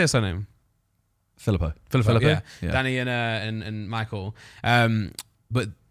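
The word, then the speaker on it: Philippou: Filippo.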